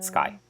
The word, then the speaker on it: Skye: what's her face again skye skye um him interviewing talking to skye feldstein and because it rhymes with guy and um them arguing